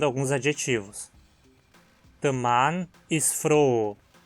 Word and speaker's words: froh: Preste atenção na diferença de pronúncia entre Frau, mulher, e froh, alegre.